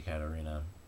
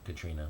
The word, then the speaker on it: Katrina: that he gave to Katarina or Katrina cuz that's how they say it now but it was actually